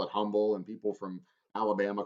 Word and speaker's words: Humble: just thinking about it the h is silent we're humble uh and that's actually